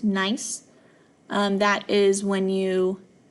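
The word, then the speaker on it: gneiss: G NE I SS it's pronounced nice um that is when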